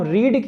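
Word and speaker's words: read: फिर वर्ब की third form, verb की थर्ड फॉर्म रीड की थर्ड फॉर्म, उसको रेड कहा जाता है लेकिन स्पेलिंग सेम होती है, रीड रेड रेड, तो अवर बुक्स आर रेड।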